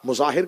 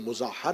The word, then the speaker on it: مظاہر: حبیب ابن مظاہر، مظاہر کہا جاتا ہے لیکن مظاہر ہے، اس کو مظاہر کہہ دیا جاتا ہے لیکن اصل تلفظ کا مظاہر ہے.